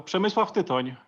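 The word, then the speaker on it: Przemysław Tyton: Yeah, so Przemysław Titon, yes.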